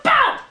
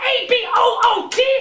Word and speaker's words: about: It's about A-B-O-U-T, not A-B-O-O-T! Stop saying a boot!